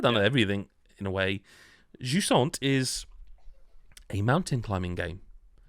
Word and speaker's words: Jusant: reason not to is jant jant and that is how you pronounce it I've checked um or how I would have pronounced it is French word I believe um it's